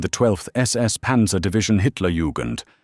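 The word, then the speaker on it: Hitler-Jugend: SS Panza divisions, including the 12th SS Panza Division, Hitler Yugand, pronounced Hitler Yugend and Panza lair, pronounced close to pair.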